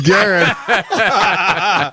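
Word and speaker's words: Garrard: was Gard no it's what is it what you pronounce it gar Gar it's Garr he set me up oh I always forget that in Kentucky you got to pronounce everything the way it looks or else you're wrong get them all right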